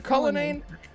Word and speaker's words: Cullinane: Cullinane, fantastic. You're welcome. By the way, Cullinane, I found out it's pronounced Cullinan, and I heard that.